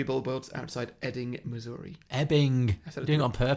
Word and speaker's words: Ebbing: Well, you did just pronounce it Ebbing, Missouri, but until then you were doing great. It's Ebbing.